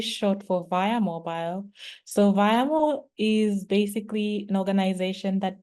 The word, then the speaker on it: Viamo: And over to you, Pacific, who, by the way, educated me that it's not Viamo, as I've been saying the entire time, but Viamo, like via mobile.